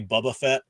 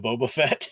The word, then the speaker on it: Boba Fett: this and I do I always mispronounce this when I'm just talking quickly quite often I'll say bubba Fett instead of Boba Fett Bubba Fett but I don't know